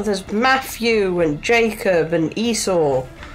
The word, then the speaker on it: Esau: get that yes um jacob and esau he looked it up and google said that's how you pronounce it yeah i was trying to say isau but it sounds like i'm calling him like an e thought yeah and it's